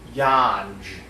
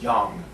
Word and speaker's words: Yonge: looked like it said yawns okay you look at that word and you see you don't think at vs that's pronounced young it says it's it's spelled like it's yawns okay so that out